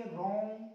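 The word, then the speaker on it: wrong: रॉन्ग, W silent हो जाएगा, नहीं पढ़ेंगे डब्लू को, राइट का रॉन्ग।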